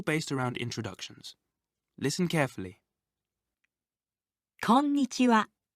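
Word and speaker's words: こんにちは: remember this new word try saying corn itchy wow quickly think of corns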